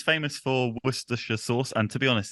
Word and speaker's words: Worcestershire: didn't know it um Worcestershire was I close Worcestershire oh yeah Worcestershire Worcestershire yes okay I'm still gonna call it worshiper that's what I've been saying my whole life okay cool um let's